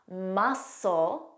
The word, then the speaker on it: muscle: Scissors, muscle, muscle, fascinate. So you just hear that the S sound. The rule here is SC spelling has a silent C, but in pronunciation.